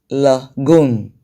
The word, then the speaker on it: lagoon: So you can see that all the words, the 4 words that are there, have their stress, their stress on the first syllable from the end of the word.